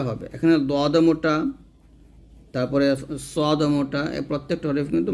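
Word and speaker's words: صاد: এরকম ভাবে তারপর হচ্ছে সদের জিহ্বার আগার সামনে নিচের দুই দাঁতের আগার সঙ্গে লাগিয়ে কিঞ্চিত শীষ ধ্বনি সহ উচ্চারণ করতে হবে তো এখন কিন্তু আমরা শীষ ধ্বনিটা বের করব তবে এই শীষ ধ্বনিটা কি হবে মোটা হবে মোটা করে ধ্বনিটা বের করতে হবে যেমন এরকম সদ এরকম ভাবে তারপর হচ্ছে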